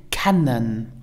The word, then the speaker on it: kennen: Pronounce it kennen.